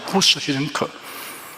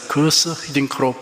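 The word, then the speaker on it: Guus Hiddink: 월드컵에서 우리나라 축구 감독을 맡았던 히딩크 감독의 이름이 처음에는 구스 히딩크 등 몇 가지로 불렀습니다. 결국 본인의 요청에 따라서 거스 히딩크로 부르게 되었습니다.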